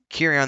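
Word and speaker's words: Cirion: It's Kirion. I gotta remember it's hard C.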